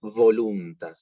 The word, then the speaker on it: voluntas: la del español es la V corta, que tiene que vibrar, no como la nuestra. Nosotros decimos vaca, no nos importa cómo decimos la V corta. Pero bueno, voluntas, es diferente.